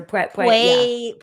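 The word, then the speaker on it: Puelles: Puelas or Puelas?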